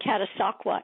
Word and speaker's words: Catasauqua: Yeah, we pronounce it Catasauqua. It's Indian.